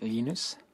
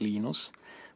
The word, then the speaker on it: Linus: I speak Swedish it's lenus when I speak Finnish it's lenus when I speak English it's lonus and I really don't care how people pronounce my name but Linux is always